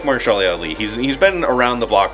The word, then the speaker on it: Mahershala Ali: Mahershala Ali.